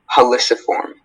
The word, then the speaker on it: heliciform: Heliciform, am I saying it correctly? Heliciform. Heliciform.